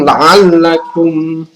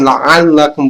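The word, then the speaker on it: لعلكم: Kemudian la'allakum. Perhatikan teman-teman, menyebut alif dengan ain itu dibedakan, la'allakum bukan la'allakum.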